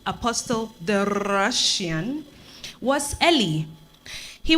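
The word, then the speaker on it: Apostol: Apostle, like the title? It's spelled A-P-O-S-T-O-L. Apostle. Means same thing.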